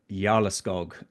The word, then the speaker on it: Jarleskog: With me today, I've got Henrik Jarleskog, and I learned how to pronounce that as it translates to the Earl of the Forest in Swedish.